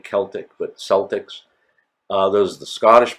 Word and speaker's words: Celtic: we have the Celtic sometimes also called Celtic with a k' and pronounced with a k' Celtic but Celtics those the